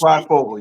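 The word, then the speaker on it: Fryfogle: I won't want to butcher his name, but Ty Freifogel. I hope I pronounced it right. It's Freifogel.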